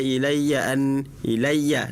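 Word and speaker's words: إِلَيَّ: Qul uhiya ilaiya ilaiya. Nah itu yanya samaanya itu bukan bukan idgam bigunah. Ilya ilaiya bukan ilaiya ilaiya. Nah itu jangan panjang panjang karena itu bukan idgam biguna seperti itu ya.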